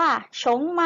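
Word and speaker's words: 熊猫: พอ มี ผ้า นะ คะ ออก เสียง ว่า ชง เมา โฉม เมา นัก เรียน ออก เสียง ตาม หนังสือ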